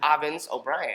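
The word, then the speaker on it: Avens O'Brien: You aren't going to risk mispronouncing my name. Avens O Brien.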